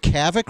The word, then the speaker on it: Kavik: So you live, how do you pronounce this? Is it Kavik River Camp? Is that how you pronounce it? Yeah.